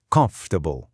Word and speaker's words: comfortable: Em inglês, a palavra é comfortable. A força tá toda no começo. As outras sílabas são ditas de forma bem rápida e reduzida.